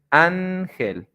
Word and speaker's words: ángel: The stress syllable is going to be the second to last, and that's when you can say ángel, árbol, origen, manzana. And that's how you do it, that's how you pronounce it.